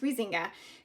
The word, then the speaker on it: Huizinga: So we start by reading Huizinga, and it's pronounced Huizinga.